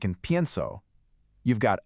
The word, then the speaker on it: pienso: For I think you say pienso. The stress is on the front, on the stem.